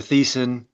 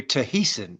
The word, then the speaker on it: Thiessen: Well, I was going to call you Tahiessen, so Yeah, no, just Thiessen. The H is silent.